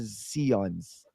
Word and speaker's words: Sions: Ano po, yung pronunciation po talaga is Sions. Then, yung mga kaibigan ko po, tinawag na lang po na akong. Kaya, yun po, na lang yung naging pronunciation.